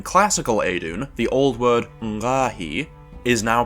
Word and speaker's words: ngqaahi: In the ancient Eidun syllabary, this glyph was pronounced ngahi, with a prenasalized uvula stop, but can also be used for the onset character for the syllable nga. But in classical Eidun, the old word ngahi is now pronounced ve, while its syllable character,